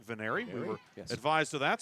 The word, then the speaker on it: Veneri: We had forgot to put the last syllable on Veneri's name earlier, but it is Veneri.